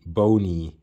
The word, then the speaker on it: Blonie: see it's uh written as baloney but it's pronounced bone bony according to him so going to the history